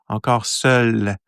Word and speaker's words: Encore seul: So seul, you're pronouncing, basically it's the L, you're pronouncing L. Encore seul. But when I say L, so it's L, I put like something else. So you won't really seul. So it's not easy to pronounce.